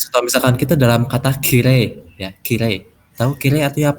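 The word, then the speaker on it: きれい: Nah, Oh, itu tulisannya kirei, kirei. Tapi dibacanya kirei ya, cantik. I see. Oke, oke. Bukan kirei ya bacanya, bukan kirei. Ya, Tapi kirei. kire.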